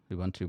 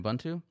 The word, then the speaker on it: Ubuntu: All right, so I didn't understand any of that because I don't use Ubuntu, but I was going to just mention, Don, I look at the YouTube comments.